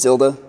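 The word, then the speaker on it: ⍬: three dimensional empty array this zero with a total through it that's pronounced tilde that is the list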